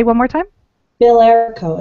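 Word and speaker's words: Bilerico: Billerico.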